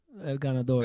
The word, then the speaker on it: El Ganador: El Ganador, yeah.